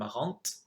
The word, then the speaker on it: marrante: Notice the difference as well between marrant and marrante. You add an E and you change the pronunciation.